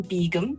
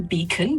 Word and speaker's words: Begum: the snowy hideaway on begum which is spelled b-e-g-u-m everybody thought i was saying beacon but i wasn't i'm saying um they